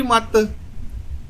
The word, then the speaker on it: मति: कुमति यानी बुरी मत, मति मत वो छोटी मात्रा को साइलेंट बोलते हैं, मति मत एक ही बात होती है।